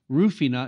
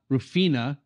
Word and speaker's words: Rufina: We talked about Rufina, not Rufina, because it's the more about pronunciation. Well, people think about Rufino, which is a large producer, actually Negociant.